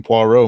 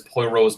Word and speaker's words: Poirot: He's the fellow that made that insane Poirot movie not too long ago.